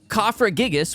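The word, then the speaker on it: Cofagrigus: finally I find something it's a ker yep cofra gigas which is actually how it's pronounced Pat is actually the coffin Pokemon I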